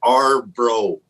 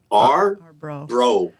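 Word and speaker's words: Arbrå: It's called Arbro, like R and brother. Arbro.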